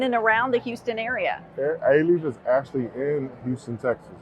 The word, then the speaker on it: Alief: Anthony Mays is kind enough to join us from Alief Independent School District. Did I say it right? Yes, Alief, long A.